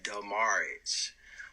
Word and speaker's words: Demaridge: get this straight first the pronunciation is demurrage but my um my